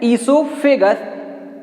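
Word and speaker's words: oesophagus: ईसोफेगस। ओ silent रहता है।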